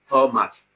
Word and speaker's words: Thomas: So it is the same ta you have in table that you have in Thomas, the alveolar ta.